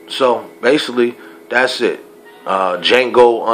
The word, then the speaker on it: Django: basically that's it uh Jango Unchained of course the D is silent all right as often